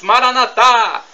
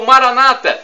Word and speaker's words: Maranatha: Eu Clamo como dizemos nós católicos Maranatha tônica na última sílaba ou Maranata tônica na penúltima sílaba como dizem nossos irmãos separados nos evangélicos ou protestantes mas não importa o